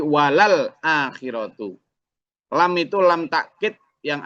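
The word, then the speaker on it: وَلَلْآخِرَةُ: Jadi bukan wal akhiratu, bukan. Tadi agak keliru bacanya. Bukan wal akhiratu, tapi walal akhiratu.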